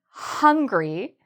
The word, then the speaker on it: hungry: Now, for the word hungry, you really need that sound, that H sound. So there should be a lot of air at the beginning of this word. Hungry. So the main thing here, remember to pronounce the H.